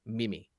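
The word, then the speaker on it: 耳: what they've written here the actual way that you would pronounce that symbol which represents the concept of ear is Mimi and now because the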